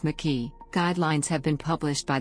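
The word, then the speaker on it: MIQE: quantitative real-time PCR experiments micki pronounced mckee guidelines have been published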